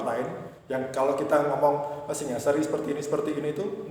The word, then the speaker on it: Singasari: Nah, kita itu mengambil akarnya dari Singosari yang pelafalannya dalam bahasa jawanya menjadi Singosari ini di ee Sanskrit aslinya itu Singasari.